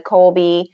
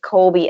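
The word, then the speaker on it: Kolbe: i know that you are familiar with the colby we use the colby um and we use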